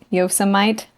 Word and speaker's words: Yosemite: like pronounce it wrong so it's not yosemite that's what it is it's yosemite yo some might oh it's your summit